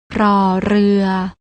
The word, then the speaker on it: ร: ชัด เจน ได้ แก่ พยัญชนะ ตัว แรก น้อง ๆ ต้อง อ่าน ออก เสียง โดย การ กระดก ลิ้น อย่าง นี้ ค่ะ รอ เรือ ส่วน พยัญชนะ ตัว ที่